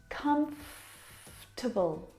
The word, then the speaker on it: comfortable: word just like vegetable has an extra vowel in there that we don't need to pronounce prounce comfortable not comfortable or comfortable but comfortable comfortable we skip that